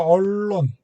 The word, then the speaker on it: 언론: 이것도 언론. 언론 윤리. 그래서 네. 발음을 잘하세요. 이렇게 스포레티 언론, 그 다음에 윤리, 그래서 니은, 리을 이렇게 그러면 리을이 돼요.